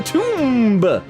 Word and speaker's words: tomb: hidden here in the Tomb take that the tomb why am I pronouncing the silent be you believe the clothing